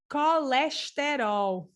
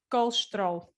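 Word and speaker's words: colesterol: it's very funny because in brazil they say something like and i'm here kind of trying to imitate their way um they say carleshtero okay so that's you can hear all the syllables very well in portugal we say kolstro oh wow you see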